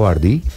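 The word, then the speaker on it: BYD: en ese segmento bueno grupo cómo le dicen bardi o bardi bardi parece que tiene tiit y grupo bard Sí yo de hecho lo pronuncio así grupo bí capitán carros grandes eh híbridos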